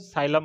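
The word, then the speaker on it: psyllium: एमपी से हो जाएगा methyl cellulose साइलम husk. साइलम में पी साइलेंट रहता है बट याद रह जाएगा।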